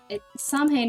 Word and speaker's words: Samhain: Samhain, Samhain is definitely the wrong pronunciation. I've always heard Samhain, but the more I learn about Gaelic, the more I'm like, that should be a V, not a W.